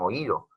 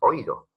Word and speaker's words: oído: tengas esa vocal cerrada igual pasa con oído en oír o tú no dices oído tú dices oído zona más la vocal